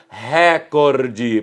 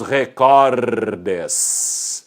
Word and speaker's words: recorde: não ao acento agudo então ela não pode ser proparoxítona e aí sobrou que pra você se ela não é oxítona se ela não é proparoxítona evidentemente ela é paroxítona e a sílaba tônica tem de ser onde está o portanto buboltz bateu todos os recordes e no singular ele bateu o recorde assim é que se deve pronunciar viu como é fácil